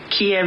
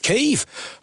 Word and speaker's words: Kyiv: Kiev is not how it's actually pronounced. And since we've understood the nature of that part of the world recently, we now know you do pronounce it Kyiv. Kyiv.